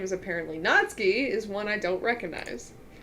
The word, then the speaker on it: Natsuki: do you say this not not Suki natsuki natsuki yeah there you go oh yeah sorry I'm